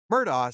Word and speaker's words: Murdaugh: their low country origin both Alex and Murdoch are not pronounced how you probably think they're pronounced Murdoch sounds like something between Murdoch and Murdoch while Alex sounds like Alec I hope we can